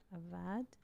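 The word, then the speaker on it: אבד: yes the word lost avad yes yes very good very good the word or the verb avad very good lost avad lost a like that yes this is how we we pronounce it aad yes is movement from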